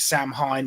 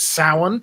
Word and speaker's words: Samhain: Well, some people call it Samhain, which is sort of how it's spelled. It's technically pronounced Samhain, but it's this sort of Celtic pagan festival that John was talking about.